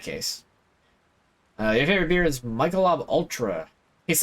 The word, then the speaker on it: Michelob: It's pronounced Michelob.